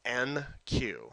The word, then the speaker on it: enqueue: So enqueue, okay, en and then queue, name of the queue.